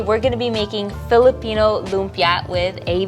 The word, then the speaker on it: Lumpia: Hi, aka Eats on YouTube, Instagram, TikTok, and today we're gonna be making Filipino lumpia with a V. So Filipino lumpia are spring rolls.